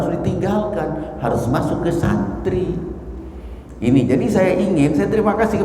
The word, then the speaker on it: santri: Santri itu dari dua kata, satu bahasa Arab, satu lagi bahasa Sanskerta. San sebetulnya asalnya bukan san tapi sun, suntri, tapi dalam perkembangannya diucapkan santri.